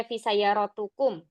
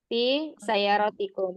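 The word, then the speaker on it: في سيارتكم: Kenapa tidak dibaca fi sayaratukum? Karena ada huruf jarnya itu sudah. Ya, karena ada huruf jarnya ya, fi, maka dibacanya di sini fi sayarotikum.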